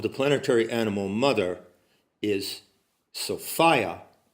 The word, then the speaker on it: Sophia: It's worth noting that The pronunciation of the name of the planetary animal mother is Sophia, rhymes with desire. It also rhymes with defiance.